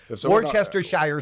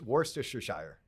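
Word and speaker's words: Worcestershire: Worster is it Worcester wer how do you pronounce that word wer w w oh my God Worchester Shire SAU is it wor it's it's wor Shire you're adding like four syllables and three consonants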